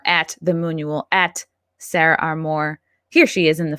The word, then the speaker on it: Armour: I think it's Armour. I think technically it's Armour. Like Under Armour.